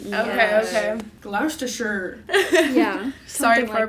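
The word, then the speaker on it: Gloucestershire: Copper's Hill near brockworth glou Shire yeah I think it's probably GL sure cuz they like usually get rid of that middle C GL toer yeah sorry for our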